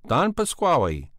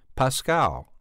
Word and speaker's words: Pasquale: does he hate you because I said at a rehearsal Don Pasquale in spite of his maintaining that the proper pronunciation was Pascal result I was ordered on